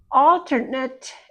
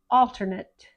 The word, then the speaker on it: alternate: And this is not eight anymore.